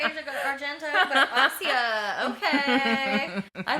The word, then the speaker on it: Asia: is pretty good too and that one has AIA Argento in it okay so yeah that's how you pronounce her name I always thought Asia I think I finally like figured it out